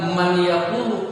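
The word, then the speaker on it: مَن يَقُولُ: Jadi bacanya bukan man yaqulu. Kalau man yaqulu berarti nunnya masih ada. Tapi dimasukkan ke dalam huruf iya. Tekan selama 3 harakat.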